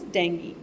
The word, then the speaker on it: dengue: The correct pronunciation is dengue.